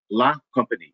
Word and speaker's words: La Compagnie: It is company with a la in front of it. That's it. La Compagnie.